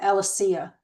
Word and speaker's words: Alysia: new one because Alicia, it's actually I'm saying it wrong. It's not Alicia, it's Al Alysia or Alysia.